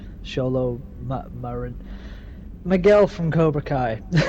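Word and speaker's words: Xolo: It's spelled with an X. Solo Marin.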